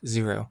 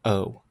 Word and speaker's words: zero: 27 never 27 also zero should always be pronounced as zero never o with the letters and